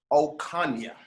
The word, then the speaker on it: Ocaña: so from duvall county we have right jenita ocania how are you doing today i'm doing good